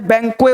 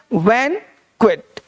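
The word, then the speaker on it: banquet: तो इसको पढ़ना है बैंक्वेट, बैंक्वेट। इसको लोग बैंक्वे बोलते, टी नहीं बोलते, वो गलत उच्चारण है, बैंक्वे नहीं होता। तो बैंक्वेट में टी का उच्चारण किया जाएगा।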